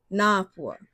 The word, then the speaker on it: Napua: For another example of kahako, you can do my name, Napua. That's how it's actually pronounced. There's a kahako above the A in my name.